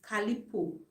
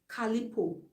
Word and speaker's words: Calliope: Calipo, very very affordable. It's spelled Calliope. Calipo. Calliope.